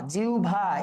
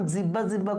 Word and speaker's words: জিহ্বা: আমাদের মনে রাখতে হবে আচ্ছা তারপরে দেখো জিহবা জিউভা এইটা নিয়ে যে ছোটবেলায় কি পরিমাণ জিহ্বা জিহ্বা করছি কিন্তু এটা আসরের উচ্চারণটা কি জিউভা এবং এটার উচ্চারণের নিয়মটা আসলে